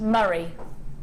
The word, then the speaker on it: Murray: By the way, Murray is pronounced Murray. Murray? Murray? Like a Murray mint.